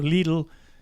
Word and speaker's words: Lidl: So Lidl, or Lidl as Americans would pronounce it, Lidl is a big grocery store.